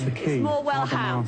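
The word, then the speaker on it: Morwellham: the accent is on the ham. blacksmith. So Graham should be able to help you there. No, I'm only joking. It's Morwell ham.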